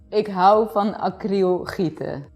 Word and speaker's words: ik hou van acryl gieten: Oh yeah, ik hou van acryl gieten. Okay, have to say it again. Ik hou van acryl gieten. Okay, I probably can. Ik hou van acryl Gieten.